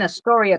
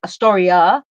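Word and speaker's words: Astoria: born and raised in Atoria. But because I listen to him speak like Atoria, the A is pronounced like the pronunciation is on the A at the end.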